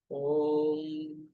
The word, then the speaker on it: ओम: का उच्चारण जो करेंगे, शुरुआत ऐसे करेंगे, ओम, ओम लंबा नहीं करना, ओम, ओम जैसे आप राम राम राम बोलते हैं, इस तरह से ओम ओम ओम कंटिन्यू करना है।